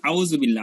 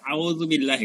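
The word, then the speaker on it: أعوذ بالله: ধরেন আপনি বলবেন আউযুবিল্লাহ, আমরা সারা জীবন যেটা বলে আসছি, তাহলে আলিফ জবরা আলিফ পেশু আউ হয়ে যায়, হ্যাঁ। কিন্তু আমার যদি সঠিক উচ্চারণ বলতে আউ, তাহলে আইন আনতে হবে আউ।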